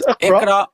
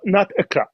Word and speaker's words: Iqra: It's Iqra. It's not Iqra. It's Iqra. So learn how to enunciate the Arabic first.